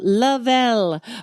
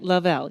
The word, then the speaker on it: Lovell: Angela Lovell. Right, I said it right. Lovell.